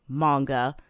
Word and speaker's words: manga: I'll pronounce it manga.